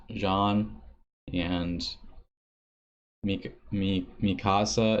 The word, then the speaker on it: Jean: of the names wrong Jean is pronounced John and me me me